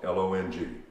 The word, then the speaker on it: long: a long way home the word i want to emphasize is the word long l-o-n-g you have an o in there listen to the way it's pronounced because that o all of a sudden becomes an ah it is a la uh uh a pure ah vowel way home listen to